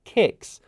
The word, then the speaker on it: CICS: It's missed me saying a T in HTTP, and it had no idea that KS is actually a product called CICS, which is pronounced KICS.